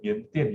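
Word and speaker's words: 缅甸: know Chinese, they say Miandian, you know, Miandian. So Lin Toi, Miandian is the Chinese pronunciation for Myanmar, right?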